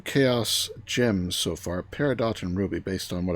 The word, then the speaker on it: peridot: And on the chaos, and I'll show how I do this later on, but on the chaos Peridot, no, you pronounce the T, Peridot, I put night vision.